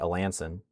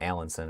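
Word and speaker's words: Alanson: area like I had I learned today Alansen is not Allensson or whatever I was saying earlier but for some reason just topi sounds really good for me.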